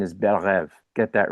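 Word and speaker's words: Belle Reve: they keep pronouncing as Bel Reev, and that's not how you pronounce it. It's a French term. It means beautiful dream. The correct pronunciation is Berev.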